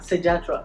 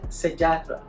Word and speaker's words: Sejahtera: My Sejahtera. Yeah, so you have to download that. If you're just using English, Sejahtera. Sejahtera. But they'll be laughing at us because that's not how they pronounce T. Yeah, Sejahtera.